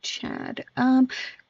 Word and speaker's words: Chad: I am actually call me Chad. Like Chad with the aw sound.